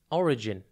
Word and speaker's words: origin: Today's word is origin. It's pronounced O-R-I-G-I-N, and it's spelt O-R-I-G-I-N. Think or, then the letter I, and then gin.